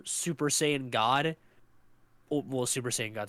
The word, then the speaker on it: Saiyan: years he was there, they pronounced it Super Cyan, and I'm pretty sure they only say that because the hair is blue, and it's literally just, you could just call it Super Saiyan Blue or Super Saiyan God.